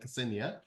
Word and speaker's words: Ksenia: Ksenia.